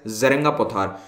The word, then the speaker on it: Jerenga Pothar: अब जरेंगा पोथार इसको प्रोनाउंस किया जाता है, ज नहीं बोलते, जरेंगा नहीं होता, हो सकता है मुझसे कभी ज निकल जाए लेक्चर में तो मैं अभी से असम के लोगों से एडवांस में माफी चाहता हूं, आदत नहीं है बोलने की, लेकिन मैंने कंफर्म किया था अपने कुछ असमीज फ्रेंड्स से, इट इज प्रोनाउंस्ड एज जरेंगा पोथार।